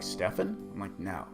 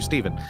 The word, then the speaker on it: Stephen: how to spell it so it's Steven with a pH like Stefan curry and then altro be alt rog GE and yes Stefan curry has ruined the name Steven because now everybody tries to pronounce my name they're like Stefan Steve oh my gosh yeah